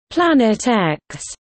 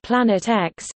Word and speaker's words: Planet X: The X in the name represents an unknown and is pronounced as the letter, as opposed to the Roman numeral for 10.